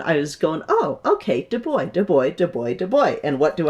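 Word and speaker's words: Du Bois: So, um, our next one we're going to cover a star of Ethiopia, which is web de boy. Not Dubois like I mispronounced earlier. D boy.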